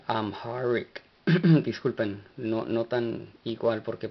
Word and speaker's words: Amharic: De hecho, no hemos hecho esto, pero lo introducimos, introducimos la pronunciación en inglés, lo cual es un poco semejante al amárico, pero hay una H que se pronuncia amharic.